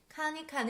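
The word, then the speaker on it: 看一看: 함께 살펴보시죠 칸 아니카 칸 이 칸 은 조금 보다 한번 보다 란 단어인데요 가운데 a 가 붙어 있을 경우에 경성으로 발음 하게 됩니다 팀이 테인 튀는 듣다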